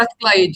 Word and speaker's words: Strathclyde: Strathclyde, yeah. You pronounced it right.